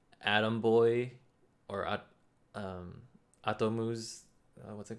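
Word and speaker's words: アトム: Oh, Atom? okay. Yeah, and in No Japanese it's idea. Astro Boy. No. In Japanese it's Atomu.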